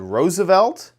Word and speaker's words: RSVLT: And they spell it really weird. Oh my gosh. I spelled it right, and I am so excited about it. It is spelled, oops, and I don't have the capture correct, so let me grab this. But it's spelled RSVLT. There's no vowels.